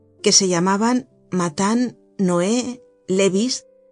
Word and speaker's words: Levis: En la tertulia de la señora T había algunas viejas nobles muy venerables, que se llamaban Matan, Noé, Levis, que se pronunciaba Levi, y Cambis, que se pronunciaba Cambises.